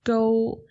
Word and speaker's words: Koo: Um in Mandarin it would actually be G, which sounds nothing like coup and isn't spelled anything that way, but in Cantonese it's go, which is uh a